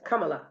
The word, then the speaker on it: Kamala: I do personally know some Indians that put the accent on the first syllable of the word, like the Ramada Inn, the hotel. Yeah. They say Ramada. So it's Ramada. So her name is Kamala.